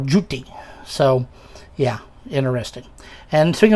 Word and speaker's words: Thoth: And interestingly, I should point out that the name Thoth is completely wrong. There is no theta. There is no th sound. Those are th in ancient Egyptian. His actual name would have been pronounced like Jut or Juti.